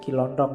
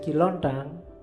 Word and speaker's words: Ki Lontang: Kiontang ini waktu diinterogasi antara lain yang diucapkan itu bukan Kiontong ya. Kamu ngertine Kiontong. Oke, nanti jadi stand up. Katanya Ki Lontang.